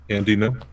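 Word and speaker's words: Andy Ngo: Andy, no. No, that's how it's pronounced, because it's like NGO.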